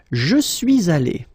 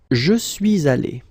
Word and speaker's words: suis allé: Okay, and then you can make the liaison here. Je suis allé. Je suis allé.